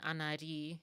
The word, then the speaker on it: Anari: Um, the way that I pronounce that, it's an what is it? An anagram or something of my name. my first name, and then Anari is how I pronounce my channel name.